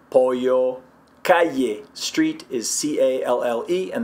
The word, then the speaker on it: pollo: They'll pronounce the double L like that. So chicken would be pollo, pollo.